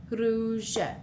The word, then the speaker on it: rouge: Here we have u makes the sound oo, oo. So with the r in front, it's r, ru, rouge.